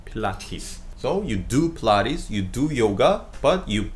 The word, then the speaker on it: Pilates: 이거 필라테스라고 발음 안 하죠? 필라테스라고 그래. 필라테스. 필라테스. 필라테스. 필라테가 아니라 T로 발음돼. 필라테스.